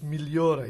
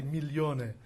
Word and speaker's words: Migliore: you rabbi also for pronouncing correctly my last name which is milliora usually people say millionaire but millionaire is quantity emilio is quality and i prefer quality